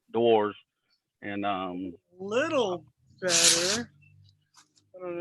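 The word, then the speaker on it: Dewar's: I was gonna say that my first half hour is sponsored by DeWalls. If you're royalty, it's pronounced DeWalls. DeWalls. It's DeWars.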